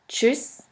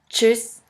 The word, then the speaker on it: Tschüss: The next letter combination is TSCH, TSCH, which is simply pronounced like a CH in English. Here we have the example of the word Deutsch, Deutsch, which means German, and of the word Tschüss, Tschüss, which means bye.